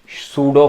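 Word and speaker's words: pseudo: इसे कह सकते हैं सूडो फोर्स, छद्म बल या इसे कहेंगे सूडो फोर्स। यहां इसमें पी साइलेंट है भाई, ध्यान रखना पढ़ते वक्त,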